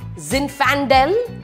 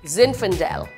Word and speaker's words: Zinfandel: G silent the C silent and it's not Zinfandel or jinpandel it's Zinfandel and it's not Holland it's sonal Holland cheers